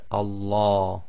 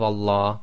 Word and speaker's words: Allah: a preceding sound now if there is a preceding sound there are two different ways that the name of Allah can be pronounced the first one if the word before the word name of Allah it has a casra sound I the last sound before the name of Allah is going to be a casra then we're going to pronounce the Lamb of Allah in a light fashion I so that's light